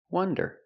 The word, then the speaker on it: wonder: And wonder is pronounced with a short u, the sound uh, uh, like cup and up. Uh, uh. This is a closed relaxed sound. Uh, uh, wuh. One, one. One. Like in number one. One. Wonder. Wonder.